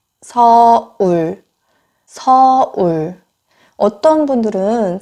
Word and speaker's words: 서울: 굉장히 발음이. 네. 다음은 서울. 서울. 서울. 어떤 분들은 세울 하시는 분들도 있어요.